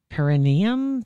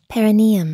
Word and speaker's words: perineum: First, I'm going to ask, have you ever heard of, I think you say it, perineum sunning? Perineum? Perineum? I don't perineum know. Perineum sunning. How do you spell it?